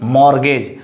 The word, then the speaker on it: mortgage: Here is exact pronunciation is mortgage. So here is T is silent, mortgage. T is understood, T is silent.